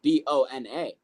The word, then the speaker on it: Bona: the other person has the last name of B O N A. It's pronounced Bona.